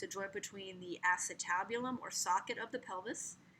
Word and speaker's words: acetabulum: socket is called the acetabulum that's how it's pronounced acetabulum it's near the s even though it's spelled